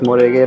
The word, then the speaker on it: Murigi: So that's yes, Murigi, that's how we pronounce it.